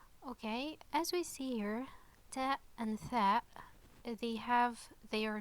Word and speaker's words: تاء: two dots and also it's pronounced like ta okay so like it